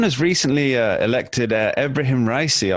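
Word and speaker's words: Ebrahim Raisi: recently uh elected uh abraham ricey i believe it's pronounced as its leader who's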